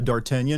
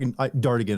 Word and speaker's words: Dartigan: And a lot of people would try to call me that, but no, I like Dartigan. I I couldn't I didn't know how to say it, pronounce it correctly originally when I first learned it or even spell it. So, I was like, Americanized the hell out of it. So, you know, just Dartigan, but you know, it's enough.